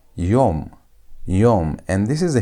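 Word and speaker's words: יום: Y which is y o which is hw and you have me. That makes it yum.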